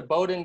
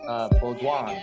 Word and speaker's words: Bowdoin: I went to Bowdoin College, and then a French person in the office said, oh, it's actually pronounced Baudouin.